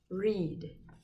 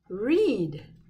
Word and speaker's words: read: water like tall grass read this one ea the a is silent e says his name read read the book read